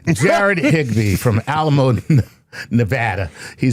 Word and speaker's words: Nevada: Jared Higgby from Alamo Nevada. He says hello Dr. Tyson Lord Chuckles. You even said it right. Nevada. That's how they say it locally.